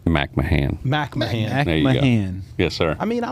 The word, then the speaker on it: McMahan: I always get your last name wrong. McMahan. McMahan. There you go. McMahan. Yes, sir. I mean, I like McCanahan. but McMahan? McMahan.